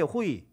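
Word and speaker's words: οὐαί: 그 헬 피부 리어가 여 호의에 호이 둘리가 에게는 호위가 아니고 발음 자체가 호 이에요 근데 이게 뭐냐며 아아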